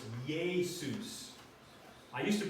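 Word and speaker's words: Ἰησοῦς: in the name Jesus the vowel combination of those two is to mirror the Hebrew Aramaic yode sound so they are pronounced together as ye so it's Jesus I used to pronounce it eesus until I was taught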